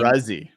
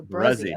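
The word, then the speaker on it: Bresee: Bruzzy. I know. I gotta learn it. I'm going to the draft, so I gotta remember that. So Bruzzy.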